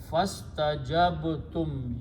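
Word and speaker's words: فاستجبتم: And so when you put a fa, do not pronounce this alif. So fastajabtum, you responded.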